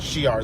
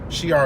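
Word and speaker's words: Shi'ar: to do the Shiar I pronounce that she are the Shire she are as easy to say so yeah they're not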